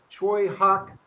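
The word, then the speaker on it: Tsui Hark: yeah, this is a movie that it's one of Choi Hawk, whose name is spelled Tsuihark.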